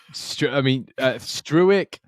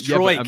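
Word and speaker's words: Struijk: It's just Struick. no, that's what Oscar says. But Stroik, he said. He's called him Pascal Stroik, which that actually, I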